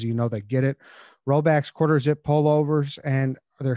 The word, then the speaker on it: Rhoback: Roback's quarter zip pullovers, and they're soft and they're comfortable as it gets.